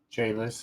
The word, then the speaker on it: Chalice: Chalice is correct. It's Elvish.